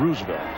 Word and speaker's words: Roosevelt: Pepper Martin's given name, John Leonard Roosevelt Martin. Or if you prefer the correct pronunciation, Roosevelt.